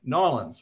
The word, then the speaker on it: New Orleans: Nolans, right?